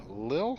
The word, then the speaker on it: Lille: We're in Rostock, and we're headed down to Lille, I believe, France is how it's pronounced.